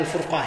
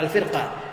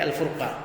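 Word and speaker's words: الفرقة: menjauhi al-furqah, itu perpecahan, itu bacanya al-furqah ya, bukan al-firqah, tapi al-furqah.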